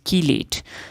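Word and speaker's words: chelate: regarding coordination compound is कीलेट नाउ इट is pronounced as की लेट सो इट इज़ कीलेट now what is अ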